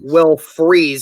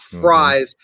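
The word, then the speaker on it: Fries: it to me in the comments it's actually will freeze it's not fry's you know even though it's it's said that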